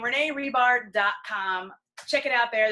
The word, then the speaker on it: Hribar: h RI ba r it's rebar the H is silent don't ask I tried